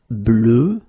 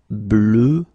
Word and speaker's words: bleu: Okay, peu, bleu, feu, e. And then we will have a little bit the same, but it's a bit lighter, more open, and it's peur. Okay, previously it was bleu, so really, really deep, bleu.